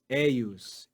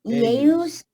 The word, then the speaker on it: eius: Be careful. Read each syllable. How do you read that? Jesus. Eius. Eius. Eius. 2 syllables.